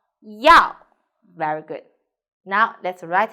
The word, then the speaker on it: 药: 药. So pay attention here. Is E plus 凹腰. So, but when you write, we need to write like this. 腰. So, first tone. 药.